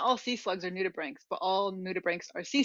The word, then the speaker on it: nudibranch: my whole life you i pronounce this word new to branch but it's not is it yeah it's new to brink new to brink see